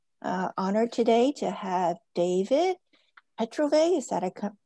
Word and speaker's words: Petrovay: Honored today to have David Petrovay. Is that pronounced correctly?